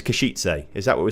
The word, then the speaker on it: Košice: The E at the end of Kashitse. Oh, Kashitse is not silent. So it's Kashitse.